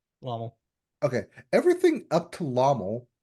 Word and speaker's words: LOML: Those first five songs up to okay, how you pronounce Iomel? Lomel? It's LOML because it's an That is acronym an L, for right? Love of My Life. Okay. So it is Lommel. Lommel.